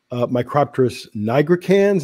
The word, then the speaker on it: Micropterus nigricans: Yeah, and that the name of what we used to call the northern subspecies, or simply Micropterus salmoides, is now Micropterus nigricans. Is that the pronunciation?